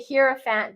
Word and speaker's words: hierophant: This hierophant hierophant, however you really want to pronounce it, I I like to say hierophant because it reminds me of a the hero.